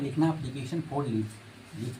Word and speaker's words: application: देखिए TION ना, TION, इसको सन पढ़ते हैं।